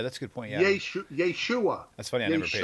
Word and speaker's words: Yeshua: Yeshua. That's funny. I never paid attention to that. Okay. Accent is a second syllable, by the way. But they always go Yeshua.